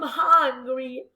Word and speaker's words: hungry: Pronunciamos la H, ¿ok? Hungry.